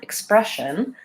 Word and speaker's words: expression: there Xavier is that the stress in expression is on the second syllable and this still is unstressed and that sound is is a reduced foul sound so the reduced vowels